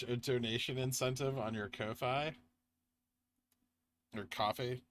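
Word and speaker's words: Ko-fi: to bounce off vwap it is Kofi not coffee how I don't care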